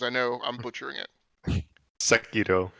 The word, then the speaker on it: Sekiro: Swiss, would you please pronounce it for me? Because I know I'm butchering it. Sekiro. Sekiro.